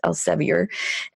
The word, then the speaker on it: Elsevier: think earlier this year broke with Elsa VA which I believe that Americans pronounce Elsevier which is one it